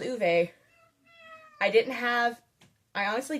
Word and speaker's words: Ove: It's uve. It's not of. It's spelled ov but it's it's pronounced ove.